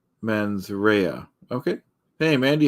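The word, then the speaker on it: Mens Rea: appreciate Lura tip um so like Laura said it's pronounced men's Rea okay hey Mandy how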